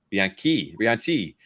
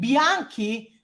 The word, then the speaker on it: Bianchi: salmon is fine and Bianchi with the K instead of a CH in the end it would be like